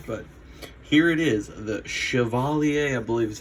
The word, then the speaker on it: Chevalier: I've heard it called the Chevrolet, or the Chevy Cavalier, or the Chevalier, or all kinds of crazy things. But I believe the correct way to pronounce it is Chevalier.